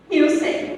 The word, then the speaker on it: Hülsen: É assim que pronuncia. Hülsen, muito bem.